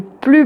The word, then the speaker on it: plus: Ensuite, la phrase suivante : "Quel a été le plus beau moment de ta vie ?" Là, de nouveau, on ne prononce pas le S puisque il est suivi d'un adjectif.